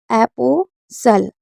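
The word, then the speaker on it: apostle: STLE होगा तो T silent रहेगा, STEN होगा तो टी साइलेंट रहेगा। जैसे इसको पढ़ते हैं, इसे पढ़ेंगे एपोसल।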